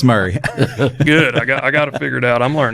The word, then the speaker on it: Murray: okay Franklin 3600 um Murray County that that's how it's pronounced here I got to I got to figure these counties out I heard a joke though one time it was Mari instead of Murray that was a fun